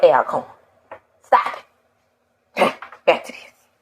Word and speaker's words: Alcorn: Just like y'all come down here saying Alcorn, and it irritates the hell out of me. It's Alcorn, you gross. Alcorn.